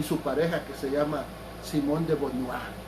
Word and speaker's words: Simone de Beauvoir: Y este señor, Jean-Paul Sartre, ya murió, pues, y su pareja, que se llama Simone de Beauvoir, o así, algo así se pronuncia en francés, ¿verdad? Simone de Beauvoir, ¿verdad?